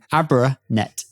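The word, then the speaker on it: Abranet: And abraet is a net abrasive. So it has mesh. How do you pronounce that again? Abraet. Abraet. Yeah. It's like abrasiveness.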